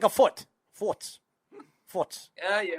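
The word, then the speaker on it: Furz: word um and i how do you say fart in german what what is it called what forts forts forts okay so it's like a fart it's like forts forts yeah it's like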